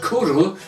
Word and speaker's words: Cwrw: Now, Kuru, of course, as I said, is the Welsh word for beer. And the back of this bottle tells us that Kuru, pronounced Kuru, meaning beer in Welsh, is an international award-winning